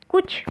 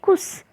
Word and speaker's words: कुछ: कुछ को कोई लोग कहते हैं कुस। अभी कुस कैसे हो गया? वो तो गलत है। क्या होगा? कु छ, है ना।